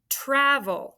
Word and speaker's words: travel: too travel say it travel be careful it's not ch travel it's trav travel try it all right